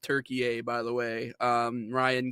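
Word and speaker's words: Türkiye: Uh it is pronounced Turkey A by the way.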